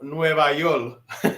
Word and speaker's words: Nueva York: from the opening of Nueva York, because you gotta say it like that.